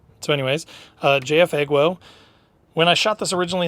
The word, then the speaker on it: JF.EGWO: which I did get a correction on the pronunciation it's not jefo it's jfo so anyways uh jfo when I shot this originally in the woods